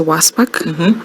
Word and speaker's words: WSPAK: Oh, so we we pronounce it as Wasp.